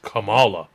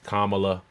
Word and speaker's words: Kamala: try and explain how Donald Trump commala it's pronounced Kamala but other than that